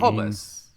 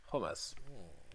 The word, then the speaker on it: hummus: No, I think a slightly different pronunciation. Hummus. At least I would pronounce it hummus. Yeah. Some people hummus, say hummus. Hummus, yeah. Hummus or hummus. Maybe there are other pronunciations as well. I'm not sure. Homos, H-O-M-O-S in this case, the Greek, meaning the same.